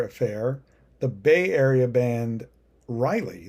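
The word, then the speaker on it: Ryli: Next we have a lighter affair, the Bay Area band Riley, that's spelled R-Y-L-I. At first I kept reading it as R-I-L-Y, recommended if you like,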